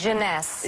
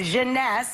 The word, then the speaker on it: Jeunesse: Jeunesse. Jeunesse. It's very the maker. French.